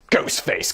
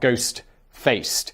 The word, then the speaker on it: Ghostface: Ghost face killer. And by the way, killer is is Oh, it's ghost face. Ghost face, not ghost faced.